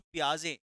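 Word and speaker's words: Piaget: तो मैंने आपको बताया जो पियाजे इसको टी साइलेंट रहता है।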